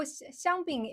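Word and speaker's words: 香槟: So xiangbing is the Shanghainese pronunciation. When it's in English, in Mandarin, it's champagne. Okay, it's champagne.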